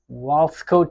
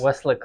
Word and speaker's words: Weslaco: Uh, Walsco, Texas. I'm not sure if I pronounced it right. Please tell me about Yes. your birthplace and how your childhood was like. So I was born in Weslaco, Texas. Weslaco. Okay. Weslaco, yeah.